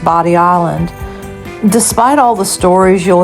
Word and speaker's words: Bodie Island: One thing that surprises many visitors is that Bodie Island is actually pronounced Bodie Island.